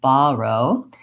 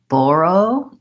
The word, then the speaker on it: borrow: of this word so when I say this word I use the AH vowel I say borrow but in various dictionaries that I consulted and for various different regions of the US and different personal choices there's also some options for borrow and borrow so we'll look at